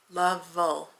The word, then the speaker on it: Lovell: It's also from Unconventional Cross Stitch by the same artist, Christopher Lavelle or Lovell. I should just look that up. Let me look that up quickly. Lovell. Oh, like rhyming with shovel or gavel.